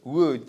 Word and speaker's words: would: À chaque fois le l ici, vous l'écrivez mais vous ne le prononcez jamais. C'est would, should.